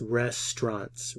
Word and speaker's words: restaurants: Restaurants, restaurants, restaurants. Estas vocales no se pronuncian aquí.